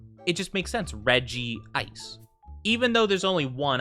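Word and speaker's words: Regice: said Reggie ice because that's how they pronounced it in like the movies in the anime yeah I go with Reggie ice I I don't get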